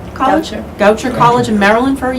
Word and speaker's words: Goucher: our traveling gal um she attended do I pronounce that goer College Goucher College in Maryland for a year on academic